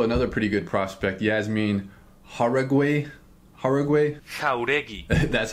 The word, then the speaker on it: Jauregui: There's also another pretty good prospect, Yasmin Jauregui.